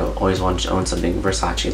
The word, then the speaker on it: Versace: I also want to own it like something Versace like I always want to own something Versace like me me like a shirt from them